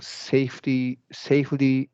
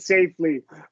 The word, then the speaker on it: safety: I trying to do I thought it was like a flap T, but actually it's not. Yeah. Yeah. That's right. The reason it's not a flap T is because it's not between two vowel sounds, right?